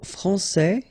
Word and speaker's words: français: Okay, so français here, you get this final S that you don't pronounce, so français, and then when you put this final E here, you will get française.